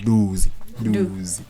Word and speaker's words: Dusi: But also it's pronounced Dusi.